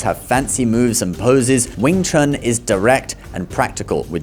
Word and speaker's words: Wing Chun: But, for reference, in Mandarin, it is pronounced Yong Chun, or Yong Chun Kuen, Yong Chun Fist.